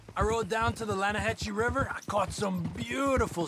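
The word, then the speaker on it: Lannahechee: it runs right near here yeah but it's pronounced Lana hassy why is everything in English said differently than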